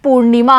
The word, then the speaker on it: पूर्णिमा: जैसे यहाँ पर न पे लगा हुआ है रेफ, तो न से पहले हम रे बोलेंगे यानी पूर्णिमा हम बोलेंगे।